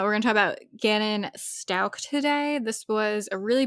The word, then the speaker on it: Stauch: we're gonna talk about Ganon Stout is how you say it actually right yeah I still always read it as Storch but it's not Stout I read it as stouch uh we're GNA talk